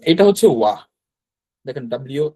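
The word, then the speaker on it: を: আচ্ছা, ওটা হচ্ছে আমরা পরে দেখবো। তো এটা হচ্ছে ডাব্লিউ ও, ও। এটার উচ্চারণ যা, আর এটার উচ্চারণ কিন্তু তাই হবে।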